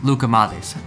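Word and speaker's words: Lukoumades: spelled here Luca modes my wife told me that if I make the D more of a th that's kind of how it's pronounced Luca modes that actually really helped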